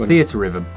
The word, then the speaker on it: Theatrhythm: It's THEATRHYTHM.